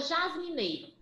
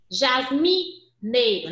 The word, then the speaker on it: jasmineiro: Ó, é como se eu tivesse um Ezinho com o som nasal e tivesse um circunflexo em cima, certo?